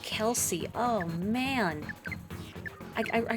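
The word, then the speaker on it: Khlc: points out a woman named k h l c pronounced Kelsey oh man I I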